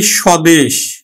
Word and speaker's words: স্বদেশ: সদিকার যদি আমি লিখি স্বদেশ স্বদেশ এই যে শব্দের শুরুতে যে বফালা আছে এই বফলার উচ্চারণটা আমরা করি না আমরা উচ্চারণ করি কিন্তু স দেশ স্বদেশ উচ্চারণ করে থাকি তাহলে শব্দের বা পদের